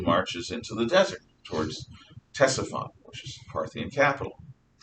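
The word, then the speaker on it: Ctesiphon: into the desert towards tessephon which is parthian capital tessaphon spelled with a c ctes because i don't know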